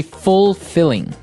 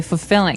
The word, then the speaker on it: fulfilling: Now notice the pronunciation. You don't say fulfilling. No, you say fulfilling. Fulfilling. So the L there is kind of silent. Kind of optional.